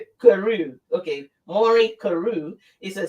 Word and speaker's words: Carew: Maureen, have I pronounced it correct? Is. Carew.